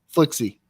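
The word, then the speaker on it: F1IKZY: Flixie. The one is an L. The L is a 1.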